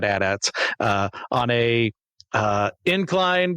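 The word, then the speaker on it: AT-AT: Uh, we see some addats at AT ats, however you want to pronounce it. I've always said addats.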